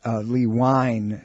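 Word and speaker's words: LeWine: by the name of Howard Lee wine spelled like wine WI any he's chief medical editor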